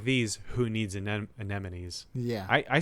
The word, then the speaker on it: anemone: what no then I've been saying it right my whole life yeah but I when I looked it up I was like is an enemy right and they're like no it's anemone but no it is